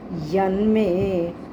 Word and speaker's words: यन्मे: यन में, यत में शब्द है, इकट्ठा करेंगे तो यन में। यन में त्वदन्येन न दृष्टपूर्वम। यन में त्वदन्येन न दृष्टपूर्वम।